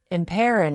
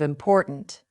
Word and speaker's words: important: Many learners drop the final consonant of words. They say goo instead of good, thin instead of fine, imperin instead of important.